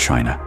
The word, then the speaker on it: qi: In ancient China, health was never just about flesh and bone. It was about energy. The invisible life force called qi, pronounced chi, flowed through all living